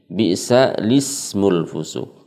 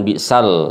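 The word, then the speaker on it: بئس الاسم الفسوق: Karena di sini lam ta'rifnya sukun, ya, sulit diucapkan karena setelahnya juga sukun dalam huruf sin, maka lamnya diganti kasroh jadi bi'sa lismul fusuq, bukan bi'sal, ya, tapi bi'sa lismul fusuq.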